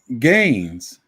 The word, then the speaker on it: Gaines: way of saying it some people want to put a r in it it pronounced just like that famous cats up Heinz except with a G Gaines guns either I just